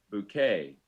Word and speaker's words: bouquet: Bouquet.